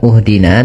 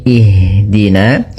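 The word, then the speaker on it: اهدنا: Maka kita baca di sini bukan uhdina tapi ihdina.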